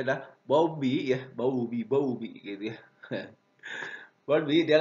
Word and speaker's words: Bowlby: Nah, di penelitian yang dilakukan oleh John Bowlby, bacanya adalah Bowlby ya, Bowlby gitu ya.